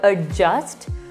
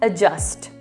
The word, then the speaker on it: adjust: u s t yes does not have a d sound we don't pronounce it as adjust or adjust we pronounce it as adjust just remove the d